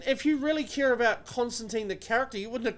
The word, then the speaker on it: Constantine: No, not Constantine. Constantine. Oh, fuck off. That's how they pronounce it. It's Constantine.